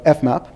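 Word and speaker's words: fmap: we define the method F map we'll find a method left angled dollar right angle pronounced F map as just being the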